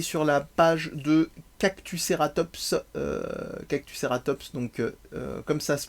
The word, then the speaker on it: Cactuceratops: Je vous invite à aller sur la page de Cactuceratops, Cactuceratops, donc comme ça se prononce, Fanny Rebillard de son nom.